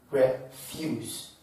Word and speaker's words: refuse: For bisyllabic word, if they are nouns, the stress will fall on the first syllable. Then if they are verbs, the stress will fall on the second syllable.